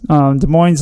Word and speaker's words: Des Moines: But in Des Moines, is that how you say it? Des Moines. Des Moines, Iowa. Open to. No, it's Des Moines.